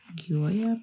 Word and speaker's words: Gioia: Is that how you pronounce it? Gioia pen.